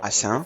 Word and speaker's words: Assanyin: Assanyin or assin French pronunciation, these are ceremonial and funerary furniture.